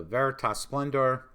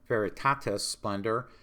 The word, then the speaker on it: Veritatis Splendor: All right, the fifth dubium asks if the teachings of the Veritas Splendor, sorry, I keep mispronouncing that, Veritatis Splendor, which excludes a creative